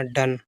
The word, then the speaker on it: done: DONE, देखिए इसको डन, DON, डी से डा, एन से ना, डन, इसमें ओ भी साइलेंट होता है, एन भी साइलेंट होता है।